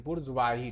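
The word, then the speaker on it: bourgeoisie: ये इसका प्रोनाउंसिएशन यहाँ पे लिखा हुआ है, तो लिखने में इस तरीके से है, इनको पढ़ा जाता है इस तरीके से, बुर्जुआही, ठीक है।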